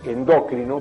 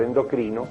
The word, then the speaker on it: endocrino: en castellano es síndrome igual que decir endócrino por endocrino que esa va tampoco va acentuada es decir que son